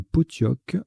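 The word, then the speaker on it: pottock: Nous descendons Potioc. P-O-T-T-O-C-K. Le C transforme La Sera en Classera. Ça se prononce bien Potioc.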